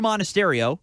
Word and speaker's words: Monasterio: And Andrew Monasterio, who you just learned how to say the name of today before we went on the air. Yes, it is said how it's spelled.